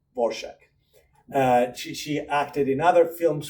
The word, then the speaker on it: Dvorak: I have to think about the pronunciation because it's not the pronunciation. It's just the pronunciation that she wanted people to adopt, Dvorak.